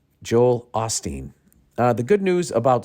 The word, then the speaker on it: Joel Osteen: Joel Osteen goes down I've been calling him Joel Olsteen you guys never corrected me and maybe thought I was just deliberately saying his name wrong but I thought there was an L in there Joel Osteen uh the